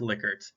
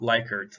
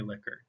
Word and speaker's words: Likert: format the next type of closed-ended question is liquid scales and yes it is pronounced liquids not likerts like you hear a lot of people say i've looked this up it is definitely liquored um this is probably one of the most